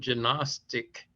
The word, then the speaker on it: Gnostic: But as it turns out, the term Gnostic is incorrect. That's the English pronunciation. If you look it up in any of their dictionaries, the G is silent because they avoided the explaining just what the term meant.